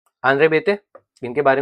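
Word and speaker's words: Béteille: Andre बेते इनके बारे में बता चुका हूं ऑलरेडी यह बिल बिई नहीं है बिईल नहीं है यह बेते बी पीए बेते प्रोनाउंसिएशन होता है इनका आंद्रे बेते कास्ट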